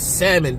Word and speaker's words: salmon: I remember daughter told me, "It's salmon, dad. The L is silent."